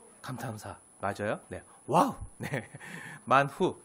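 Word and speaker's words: מן הוא: 네 감사감사 맞아요네 와우네 만후 히브리어로 발음하면 만후 만우가 만나가 된 거예요 만후 뜻이 뭐라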